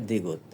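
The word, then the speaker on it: 디귿: আবার ডানে চলে এসেছে এটাকে বলা হয় দ্বিগুত এটার উচ্চারণ হবে দ্বিগুত এবার উপরে বাম থেকে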